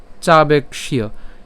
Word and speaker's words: চাবেক্ষ্য: আমরা জানি যে আমরা যদি ক্ষীয়কে ভাঙি তাহলে ক্ষীয়কে ভাঙলে আমরা কি পাই? ক হসন্ত যোগ মূর্ধন্য স। তাহলে আমরা এখানে যে উচ্চারণ করব চাবেক্ষ্য, হ্যাঁ, তাহলে আমরা এখানে ক হসন্ত পর্যন্ত যদি উচ্চারণ করি, তারপরে কি থাকে? মূর্ধন্য স থাকে। এই মূর্ধন্য সর সাথে জফলার উচ্চারণ করলে হবে চাবেক্ষ্য। তো এই যে মূর্ধন্য সাথে